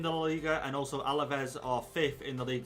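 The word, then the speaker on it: Alavés: we're playing the game against alavez or alves i'm pretty sure it's alavez and that's how it looks like it's pronounced anyway away from home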